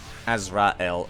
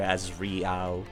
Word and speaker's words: Azrael: s thank you azreel Azrael I you know I keep mispronouncing your name to azri rather than azra okay I still need